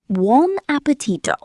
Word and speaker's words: buon appetito: In Italian, people often say, buon appetito. It means, enjoy your meal. Bon appetito?